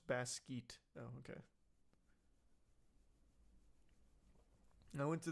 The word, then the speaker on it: Basquiat: It's pronounced Basquiat.